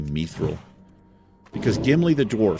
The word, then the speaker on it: mithril: That mithril right there. Mithril. I always say mithril.